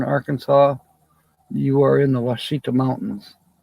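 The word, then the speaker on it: Ouachita: haven't been there now wasita which is spelled you'd think oh wasita is spelled with a W no it's not spelled with a q q UI c h ta and the wasita mountains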